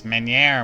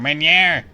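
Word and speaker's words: Meuniere: It's Meniere, Meniere. There's 3 syllables, not that hard.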